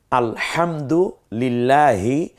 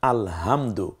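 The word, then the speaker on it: الحمد: কত ব্যবধান হয় একটু খেয়াল করুন যেমন আপনি আলহামদু লিল্লাহি রাব্বিল আলামিন এ হচ্ছে সহি উচ্চারণ কিন্তু আলহামদু এই যে উচ্চারণটা করলাম এর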